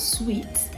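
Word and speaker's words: suite: you're talking about apartment this is sweet the same way you pronounce this candy sweet or something that has a pleasant taste sweet right next this word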